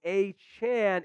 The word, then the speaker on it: Achane: Devon a Chan saying a Chan is definitely a chance so kind of confirming that report here it's close to eight chain but it's definitely a Chan so there we go